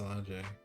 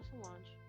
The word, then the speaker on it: Solange: make Salange look crazy how do you say her name is it Solange or is a Salange no Solange okay B I'm trying to